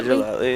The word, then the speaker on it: Gellatly: Is that how you pronounce that word? Gellatly? Yeah, Gellatly, yeah.